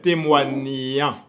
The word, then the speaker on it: témoignant: Alors, pour prononcer son participe présent, c'est témoignant. On va enchaîner avec le verbe du premier groupe.